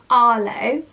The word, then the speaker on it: Arlo: here is arlo but i would personally spell this differently to how you would so originally arlo would have been spelt a-r-l-o and i would spell it with a h i would have a-r-h-l-o i just feel like makes it a little bit more unique but has exactly the same way of saying it so this is a